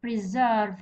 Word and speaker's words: preserve: Preserve. هذا فعل ديما الستريس يجي في الجزء الثاني بتاعه.